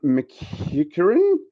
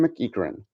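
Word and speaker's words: McEachern: the LA Kings we do have a Sean McHugh curry and brutalizing that name and it's I'm the one that's that hard to pronounce it should be easy so our Scottish or Irish Mickey Curran Sean McEachran of the Ottawa Senators oh we've got a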